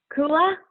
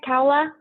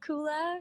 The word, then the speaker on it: Coola: in wilmington delaware amazing coola am i saying that right kaola how do you say your name tell me it's cool it's cool you were right the first time all right my name's coola she her hers and